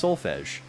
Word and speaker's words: Solfege: They're like, is her name Solfege? Solfege? Solfeg? It's Solfege. People like to be the